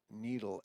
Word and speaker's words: Nedl: and you type in the word needle n DL with a long e sound a couple options show